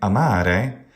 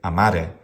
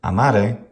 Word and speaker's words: amare: However, sometimes English and also Polish speakers, instead of saying amare, they will keep the stress on the syllable, but they will make it short. They'll turn it into a tribrac with the stressed second syllable and say amare, or tenere, or adire, or habere.